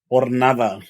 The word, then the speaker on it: Jornada: I know we don't pronounce H's, but I was just curious. Bro, this ain't Hornitos, bitch. All right, move on. It's Hornitos way Jornada. I gave you a clue.